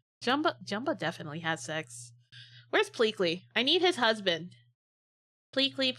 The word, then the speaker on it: Pleakley: Pleekey. Pleakley. Pleakley. It's Pleakley. It starts with a plea. And ends with a lee. Pleakley.